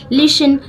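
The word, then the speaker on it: listen: लिसन to this story लिसन ये जो लिसन word है इसमें टी साइलेंट वर्ड रहता है ठीक है एस के बाद टी आया हो तो वह साइलेंट रहता है तो लिसन में हम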